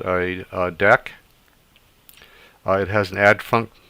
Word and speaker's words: deque: a deck is um it looks like dq but it's actually pronounced deck so deck also known